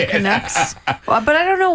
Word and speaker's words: Canuck: What is a Canuck?